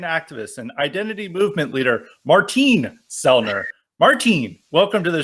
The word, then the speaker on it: Martin: for the invitation and thanks for pronouncing my name the Austrian way Martin tell me I'll try